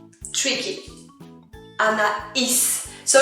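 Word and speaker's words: aïe: going to be different you're going to read that like this i i just like when you say i in english but this one means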